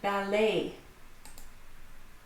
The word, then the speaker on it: ballet: The silent T. A lot of these are French, or adopted from the French language, ballet.